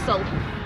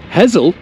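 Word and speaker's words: Hessle: to this one Julie hle it's actually hezel who replace the s's with Zeds hle o and how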